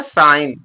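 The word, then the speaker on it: sign: भी है य भी क्या हो गया जी साइलेंट हो जाएगा य क्या पढ़ जाएगा साइन साइन पगा साइन माने संकेत ए इ साइलेंट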